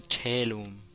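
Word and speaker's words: caelum: o assunto, vamos usar então da palavra latina telum. Telum se escreve c a e l u m.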